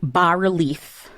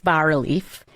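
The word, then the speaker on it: bas-relief: Is but there's an S in it but it's but it's pronounced I believe the S is silent.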